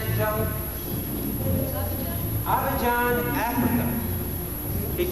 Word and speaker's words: Abidjan: Who has come from, how do you pronounce it, gentlemen? Abidjan, Africa.